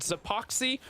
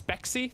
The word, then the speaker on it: Spexy: It is not Zapoxy who is Zypha's duo. It's Spexy. That's how it's pronounced, so we apologize going through there.